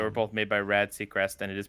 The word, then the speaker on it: Sechrist: says yeah they were both made by rad Seacrest and it is pronounced secret they did to Ryan though I need to